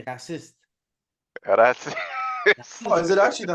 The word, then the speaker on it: raciste: French, in French, you say raciste.